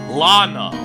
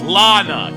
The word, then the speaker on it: Lana: Emma, Lana, I mean, they're just like what? She's 16. She's actually 15. Lacari pronounces every single name wrong. Suck my fucking cock, asshole. How about that? Lana. Okay, it's Lana.